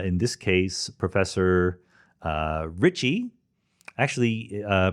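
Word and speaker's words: Ricci: this case professor uh richie actually uh professor ritchie's last name was not richie richie is spelled r-i-c-c-i his real name was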